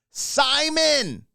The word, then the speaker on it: Simon: And so I was like, Carly Simone. Hi, Carly Simone. Everyone made me aware that it's Simon, just like it's spelled, of course. Why?